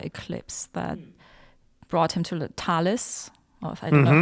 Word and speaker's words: Thales: philosopher / astronomer who was able to predict a solar eclipse that brought him to Thales. Or I don't know how you pronounce Thales, it.